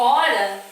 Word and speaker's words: hora: Então eu falo como se fosse assim, ó, hora sem o H, porque o H não tem som.